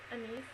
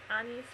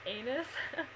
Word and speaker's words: anise: So they had to pronounce alcoholic drinks, and one of them I think was pronounced like anise or anise or something, and the guy kept pronouncing it anus.